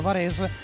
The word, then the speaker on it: Varez: teniamo sempre a ribadire, Varez è scritto ma si pronuncia in dialetto varesino Varez, per raccontare che siamo effettivamente italiani e dare importanza al territorio.